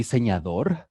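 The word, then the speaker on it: diseñador: I am a designer or the Sangha door that's how you say it in Spanish how do you say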